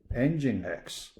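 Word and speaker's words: Nginx: source engine x okay you pronounce first part engine last part x engine x 32.4 percent very close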